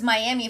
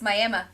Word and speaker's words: Miami: in Oklahoma too but you know how they pronounce it can you guess is it like Will Smith Miami no think way more country welcome to Miami no it's miam no no no no